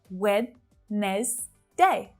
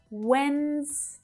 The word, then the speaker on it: Wednesday: I mean, I know this one really does seem like you should be pronouncing 3 syllables. It's very clear. Wednesday. But no. We've got 2 syllables there, and that D is a silent letter.